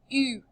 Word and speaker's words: eu: The past tense of avoir is a teeny tiny little word, and it's pronounced like this, eu.